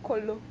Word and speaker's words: Kolo: How is it being pronounced in Ewe? In Ewe, as Kolo.